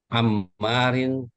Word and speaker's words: Ammar: anak Umar pelajar itu Bukan anak Umar Umar ya, Ammar. Ammar, ada nama orang si Ammar.